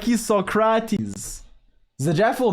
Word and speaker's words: Socrate: How do you say Socrates? In French, it's Socrate. So if you make fun of me, you're being, well, languageist, I guess.